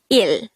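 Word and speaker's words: 일: First, the SINO-KOREAN version of number 1 is il. This is just composed of one syllable, which is il.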